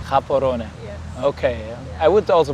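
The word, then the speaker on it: Gaborone: called kabon so uh most people call it Gabon uh but it's pronounced kabon koron yes okay I would also pronounce it wrong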